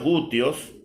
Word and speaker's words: gutios: Vamos con el otro pueblo, que son los gutios. Gutios, así se pronuncia.